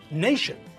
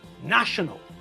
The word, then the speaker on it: national: all right now just remember that we pronounce nation as nation but when we change from the noun to the adjective the pronunciation also changes nation the noun becomes national the adjective that's an important change because we don't want